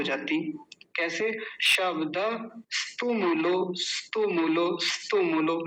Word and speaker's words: शब्दस्तुमुलो: तो ऐसा ना करके पता है क्या करें, शब्दस, क्योंकि यहाँ रुक जाएंगे, हलंत लग रहा है, आधा है स। तुमुलो, ये आसान है, तुमुलो बोलना, तुमुलो। शब्दस तुमुलो, शब्दस तुमुलो।